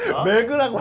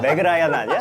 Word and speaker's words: Meg Ryan: Ryan (Meg Ryan, the 90s rom-com queen) lol Don’t pronounce it “Megu” Isn’t it Meg Ryan?